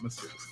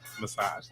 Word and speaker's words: massage: in Mass massuse right Mass no not massuse how do you say it massage massage therapy okay so